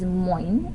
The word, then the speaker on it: moin: one that is not on your screen is moin and that is spelled m-o-i-n and they say that in the